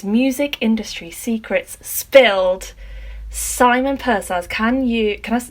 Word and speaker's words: Pursehouse: can you can i did i say your name right purse house panic says i don't know how you could say it wrong a lot of people i've had a few people call me purse horse and one guy called me pure horse once i quite like you